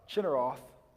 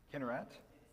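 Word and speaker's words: Kinneret: Uh Cheroth. Wait. Oh, is that the pronunciation? Kinarat.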